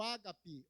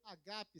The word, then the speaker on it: ágape: fácil a terceira palavra é o Ágape ou Ágape se você pronunciado as duas formas estão corretas Ágape ou Ágape estão corretas essa essa tradução que